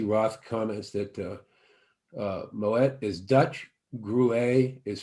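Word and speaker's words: Moët: first learned mo i always used to say mo a instead of moet and i was corrected to say moet so that kind of where my my friend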